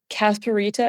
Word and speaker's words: Casperita: Let's talk about, is it Casperita and Orangita?